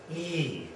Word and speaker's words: E: a lot of people this is e e not I but e so I'm going to put two e's here so you get the idea e okay uh this one